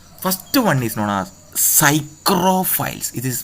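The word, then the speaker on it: psychrophiles: Optimum growth temperature first one is known as cyr files it is pronounced as Cyro P silent cyr files next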